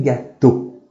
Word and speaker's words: gâteaux: Un journal, des journaux. Un gâteau, des gâteaux. Tem o X não pronuncia.